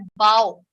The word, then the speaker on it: bow: और एक वर्ड होता है जिसका स्पेलिंग भी BOW होता है, बट उसका प्रोनाउंसिएशन होता है बाओ.